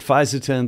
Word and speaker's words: Fisetin: I'm going to call it Fisetin. There are a couple other pronunciations, but I'll put the text up there of the name so we're all clear.